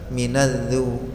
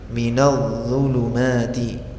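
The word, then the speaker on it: مِنَ الظُّلُمَاتِ: Cara bacanya mengalir suaranya minadu minadzulumat. Mengalir dan suaranya tebal. Kalau sekedar mengalir tapi tipis ya tetap salah. Misalkan minadzu, minadzu ini berarti dzal yang kita baca huruf d maka ditebalkan minalladu minadzulumati.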